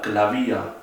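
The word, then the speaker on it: Klavier: ejemplo en la palabra clavía, que significa piano. Acá se los escribí, clavía significa piano, y en este caso la B corta se pronuncia como B corta.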